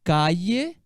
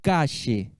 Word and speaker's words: calle: Você pode pronunciar calle, calle ou cache, tá? Então, calle, lembra um I, né? Igual ayer, calle. Ayer, calle. Ayer, cache. Né? É uma variação, depende de quem está falando.